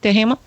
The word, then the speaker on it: Duhamel: Also, Denise Duhamel, is that how you pronounce it? Yes. Duhamel?